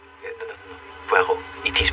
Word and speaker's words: Poirot: Poor Rods. No, no, no. Pero. It is pronounced Pero.